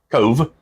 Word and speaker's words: Cobh: correct me on that, I don't believe the Irish alphabet has a V in it, so it's spelled Cobh, and the BH makes the V sound. So it's now spelled Cove, but it's still spelled Cobh.